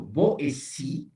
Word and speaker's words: Boétie: Para separar los sonidos se pone o un acento o una diéresis. O sea, este apellido Boétie, la T ahí se pronuncia como S, la E puede tener encima también una diéresis en lugar del acento que le he puesto.